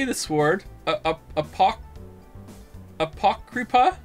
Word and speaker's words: Apocrypha: I don't know how to say that word apocrypuff I feel like I should know how to say that word uh pock kripa it's not showing up on on pronounce pronounce Apocrypha Apocrypha Apocrypha Apocrypha all right and also because